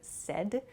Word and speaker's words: said: Please be careful of your pronunciation with the word said. A lot of people I've heard use said. Said is not correct, so please use said. It sounds like S-E-D, the pronunciation, but it's said.